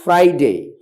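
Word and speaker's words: Friday: অবশ্যই আর উচ্চারিত হবে যেমন ফ্রাইডে ফ্রাইডে এখানে আর এর পরে কি আছে আই আছে আই একটা ভাল সুতরাং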